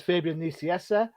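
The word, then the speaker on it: Fabian Nicieza: this uh writing is fabian niciessa um if you think i've said his name wrong i haven't go and check the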